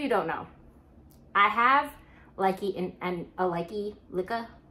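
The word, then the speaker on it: Lykke: For those of you who don't know, I have likey and a likey lika. I think it's supposed to be pronounced lika, lika. I don't know.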